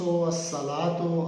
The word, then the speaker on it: الصلاۃ: ہیں الشمس، الصلاۃ، الزکات، ان میں لام جو ہے اس کا تلفظ ادا نہیں کیا جا رہا، بولا نہیں جا رہا، بلکہ الف لام کا جو لام ہے وہ جو نکرہ حرف ہے اس کے پہلے حرف میں مدغم ہو گیا۔ تو یہ کیا بات